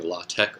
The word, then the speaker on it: LaTeX: of designed to be a basic introduction using law tech or lot to where you depend depends you pronounce it just to write basic scientific manuscripts